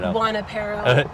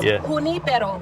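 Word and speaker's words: Junípero: It's just like Jimeno or Exemeno or Juanapero, which drives me nuts. Juanapero. Because the Spanish word, it's junipero.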